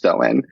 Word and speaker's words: Samhain: So Samhain is spelled Samhain, Samhain, but it's pronounced Samhain.